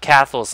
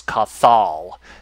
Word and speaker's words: Cathal: You know, when I first came up with Cathal's name, I thought it was Cathal. You know, but it's actually when I looked it up, it's actually pronounced Cathal. So that's how you say it.